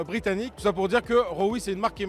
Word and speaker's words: Roewe: parler puisqu'il s'agit de Roewe et donc ça se prononce comme ça en Chine et puis finalement ça fait quand même penser à Rover que n'a pas techniquement racheté le groupe SAIC.